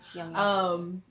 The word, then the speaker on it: Jung: How do you pronounce his Jung? name? Jung. Jung. J-U-N? Yeah. Young. Yeah. Young.